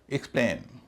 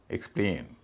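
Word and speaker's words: explain: एक्सप्लेन एक्सप्लेन में ए आई शब्द के दूसरे हिस्से में है। लेकिनकि ये वर्ब है तो दूसरे हिस्से पर ही स्ट्रेस पड़ेगा। इसलिए यहां इसका उच्चारण ए ही होगा। एक्सप्लेन इसी तरह अटेन ए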